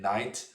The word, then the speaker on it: knight: So in chess notation, the knight is written with an N, which makes absolutely no sense except for the fact that, of course, in knight, the K is silent.